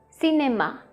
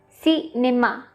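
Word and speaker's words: cinéma: So every time you see E accent aigu, that means it has to be pronounced like A.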